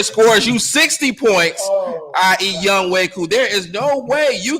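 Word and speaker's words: Younghoe: Uh was it Young Hoku is actually the name. Young Way.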